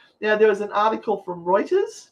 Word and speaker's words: Reuters: there's an article from reuters did i say it right this time because i normally say rooters like in trouble uh in 1999 the